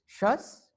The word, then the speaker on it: Shas: Similarly, in Israel, we see that how Sephardis started joining new political groups, which we call as the Sas. We pronounce it as Shas.